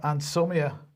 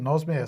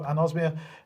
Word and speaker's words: anosmia: new fever or uh anomia uh if that's how you pronounce it anosmia sorry I do apologize right so there you go anosmia uh that an osia